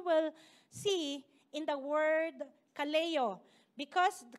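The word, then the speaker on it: καλέω: use it but in this passage it was Kaleo okay can you say Kaleo something like that so that is how you pronounce it so uh so that's a call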